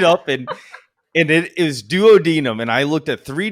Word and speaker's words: duodenum: before this podcast and it's duodenum but i always want to say duodenum don't think it matters